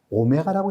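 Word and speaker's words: ω: 소문자 W같이 생겼는데 얘를 뭐라고 읽는다? 오메가라고 읽는다.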